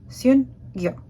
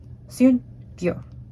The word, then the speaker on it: Syun-Gyo: So after doing some quick research on Google Translate, I believe it is pronounced Syun-Gyo. Syun-Gyo.